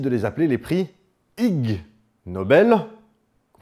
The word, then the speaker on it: Ig Nobel: Et il décide de les appeler les prix Ig Nobel, qu'on prononce ignoble. En anglais, ça se prononce comme ignoble. C'est un jeu de mots.